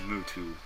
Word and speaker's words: Muto: My name is Muto. Muto? Like Yugimoto? Kind of. Yugimoto. Oh, U usually means a long O sound.